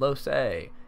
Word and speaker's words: Lohse: showing a updated guide on how to build low say yes I actually know how to say her